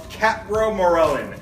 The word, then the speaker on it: capromorelin: I'm going to call it capromorelin. Now, that may or may not be right, so we'll just say Entyce.